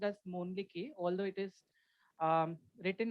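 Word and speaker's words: Mölnlycke: uh talking about the company so company is pronounced as mon although it is um written as m o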